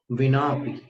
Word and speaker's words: विना: बुद्धिया विनापि, ये हिंदी में बिना शब्द है, संस्कृत में विना है। व का उच्चारण ऊपर के दांत और नीचे के होठ से होता है।